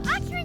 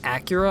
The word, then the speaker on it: Akira: I can't believe Akira just said we impressed him. Acura? I thought it was a... Okay, whatever. Emphasis on the wrong syllable.